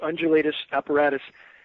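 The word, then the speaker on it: undulatus asperatus: those that type of cloud again it's it's pronounced undulatus apparatus that's a formation that was only named in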